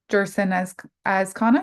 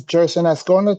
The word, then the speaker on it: Jerson Azcona: Jerson Azcona, you are our next speaker. And do you hear me? Yeah, welcome. Yes, hi. My name is Jerson Ascona. Thank you for pronouncing it correctly.